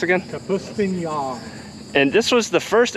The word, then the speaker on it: Kapustin: And this, how's that pronounced again? Kapustin.